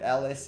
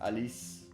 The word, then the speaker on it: Alice: And Alice is with C-E, not Alice, in a different way.